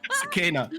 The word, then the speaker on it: Sucina: Sucina.